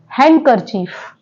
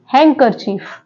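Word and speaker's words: handkerchief: पर भी ी साइलेंट है तो इसको क्या प्रोनाउंस करेंगे हैंड करर चफ हैंड करर चीफ ना कि हैंड करर चीफ okay students next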